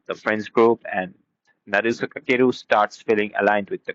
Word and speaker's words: Kakeru: His name is Naruse Kakuru. I'm sorry, it's Kakeru or it's the pronunciation of obviously in Japan.